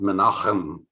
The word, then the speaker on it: Menahem: And I learned that word is pronounced Menachem. So that's the way you really should say it.